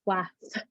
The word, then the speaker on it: Flath: my last name is Flath. People say Flath all the time, and I'm like, there's no I in there. It's flat with an H in the end. It's Flath, right?